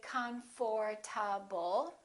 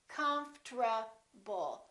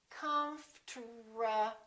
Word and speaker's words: comfortable: it we don't say comfortable this is what happens the O disappears but then there's one more very strange thing that happens and that's the RT becomes a TR they change positions listen comfortable comfortable comfortable I'm very